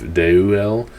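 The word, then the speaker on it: Deuel: asaf the son of daeu el that e is pronounced there deu dei ue el and so el the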